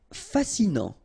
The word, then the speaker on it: fascinant: Fascinant, final T not pronounced, so you get this A-N, en, non, fascinant.